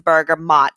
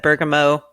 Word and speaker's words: bergamot: something about it and he corrected us and said it's a burger mot so I'm going to try to be as good as possible on saying it correctly yeah it's going to be really hard for me because I have said Bergamo for as long as I can remember bergamont but Wonder like